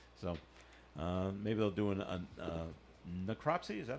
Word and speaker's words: necropsy: So maybe they'll do a necropsy. Is that how you pronounce Yeah, that?